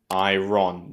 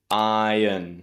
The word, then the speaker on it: iron: In English, we don't say iron, that strong R sound, iron. We say iron. So the stress is on the first syllable.